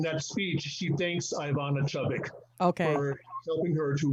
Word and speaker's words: Chubbuck: Chubbuck. Okay. You showed a clip from Halle Berry. Yes. She in that speech she thanks Ivana Chubbuck.